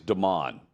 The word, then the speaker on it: Demon: So he is the cousin of Jadeveon Clowney, and it is he goes by his name is Damon, but they spell it Demon. Okay.